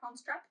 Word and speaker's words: Hans Trapp: It's two P's. Like the Von Trapp family? Yeah, Von Trapp, Hans Trapp.